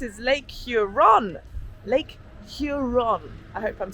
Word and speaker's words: Huron: Huron.